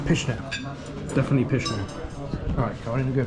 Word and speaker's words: pyszne: Pyszne. Pyszne.